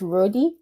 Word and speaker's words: RODE: So it's not Road Architect, it's Roadie Architect?